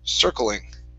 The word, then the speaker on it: circling: word circling right here instead of ser circling okay it's going to be an er sound circling okay very nice uh